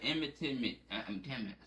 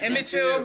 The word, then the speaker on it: Emmett Till: The Emmett Tillman. See, What? Emmett Till, bro.